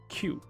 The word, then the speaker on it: queue: 叫 line up，那英国叫它 queue。我还听过有人把它念成 QE 啊，可是好像 Q 就对了，OK Q。